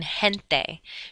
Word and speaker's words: gente: If G-E or G-I is in a combination together, then it's pronounced like the letter H, like in gente. G-E-N-T-E is gente, which means people.